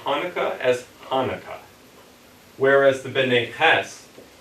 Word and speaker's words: Hanukkah: They would say Hanukkah as Hanukkah. Whereas the B'nai Hess, the Slavic-speaking Jews, kept the guttural ch sound, and they would have pronounced Hanukkah as Hanukkah.